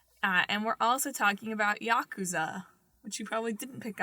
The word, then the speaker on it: Yakuza: game, but is it Yakuza or Yakuza? I think the emphasis is on the first syllable, but I could be wrong.